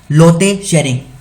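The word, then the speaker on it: Lotay Tshering: लोते शेरिंग, स्पेलिंग बोल देता हूँ, LOTAY, और यहाँ पर टी साइलेंट है, SHERING।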